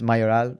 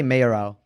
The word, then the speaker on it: Mayoral: it's a Spanish surname, and the proper way is Mayoral. But I say Mayoral.